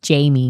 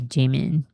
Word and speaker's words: Jimin: Not like James Corden, who says Jamie instead of Jimin.